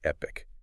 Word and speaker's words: Epique: That's Epic spelled E P I Q U but pronounced Epic.